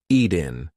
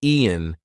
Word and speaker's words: eaten: That T is followed by a weak N sound. So we are not going to say eaten. We're going to say eat-in. Eaten. Now listen, if I don't use the glottal stop, if I don't say any kind of T pronunciation, Ian, that does not work. It's eaten.